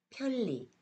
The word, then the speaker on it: 편리: 니은이 리을의 앞이나 뒤에서 리을로 변했습니다. 다른 예를 볼게요. 여기 니은과 리을이 함께 사용된 단어들이 있는데요. 어떻게 발음되는지 같이 읽어보겠습니다. 편리, 편리해요.